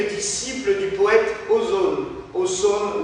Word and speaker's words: Ausone: Ausone ou Ozone, parce que ça s'écrit A-U-S-O-N-E.